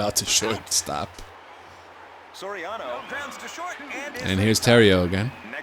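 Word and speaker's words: Theriot: And here's Terrio again. Merluzzi calls him Terriot. That's not how he pronounces his name.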